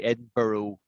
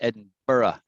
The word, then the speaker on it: Edinburgh: borough sign edinburgh eddie it's actually hard to say because it's four syllables and americans can't say it i mean they just don't say they say oh we say edinborough ed barrow but it's not ed burrow it's edinburgh edinburgh you got it she's keen on